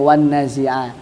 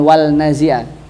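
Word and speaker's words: والنازعات: Jadi, setelah kita pelajari tadi kita tahu alasannya kenapa kita membacanya wannazi. Jadi kita punya alasan ketika misal ditanyain siapa mungkin mungkin anaknya atau siapa istrinya. Jadi kita punya alasan Mas kenapa ini bacanya wanna bukan wal naziah tapi alasan alasannya ya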